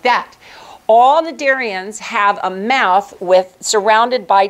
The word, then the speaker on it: cnidarians: You also do not pronounce the C in front of an N. So these are called cnidarians.